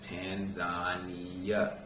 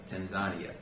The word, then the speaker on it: Tanzania: a lot of the locals told me to pronounce the name of it as Tanzania Tanzania however most Americans will call it Tanzania right now with that being said let's talk